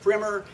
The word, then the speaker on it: primer: And yes, it's pronounced primmer even though it's spelled primer.